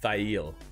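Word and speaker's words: Thayil: that up it's like it was thail it's how it's pronounced uh 11 uh alison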